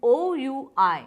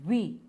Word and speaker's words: oui: Now, how do we say yes in French? It is O-U-I. The pronunciation is we. It's not oui, it is we.